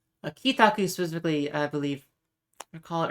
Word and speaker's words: 帰宅: So this is the kanji for returning. It's usually used on its own as kairu. So it'd be kairu to return. But when it is added to taku here, it becomes pronounced ki.